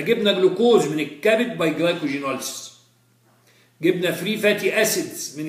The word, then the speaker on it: glycogenolysis: تكسير الجلايكوجين اسمه جلايكوجينوليس. لو ما علمتهاكش عمرك ما هتقولها غلط. دي بطرح دي في موضوعنا اللي هو تكسير الجلايكوجين لازم تنطق حرف الجي جلايكو جي نوليس انما التانية جلايكوليسيس جلايكو جي نوليسيس الثانية جلايكوليسيس.